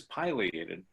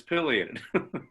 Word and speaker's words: pileated: latin for mushroom so if you pronounce it in latin it's pileated so deal did the